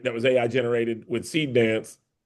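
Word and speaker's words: Seedance: was AI generated with seed dance. Yeah. Uh how do you pronounce it? Is it SD? How do you how do you No, seed seed dance.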